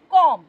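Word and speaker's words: comb: দেখা গেছে যে এম এর পরে শেষে যখন বি থাকে সেই বি কিন্তু সাইলেন্ট থাকে। যেমন আমরা কম বলি না, আমরা বলি কম, মানে কম মানে চুল আঁচড়ানো।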